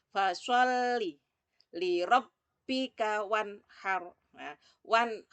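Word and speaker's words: فَصَلِّ: huruf shod diperhatikan ya fasholli huruf lemnya ada tasydidnya Makanya alamnya seperti bacanya double fasholli lirobbika wanhar one How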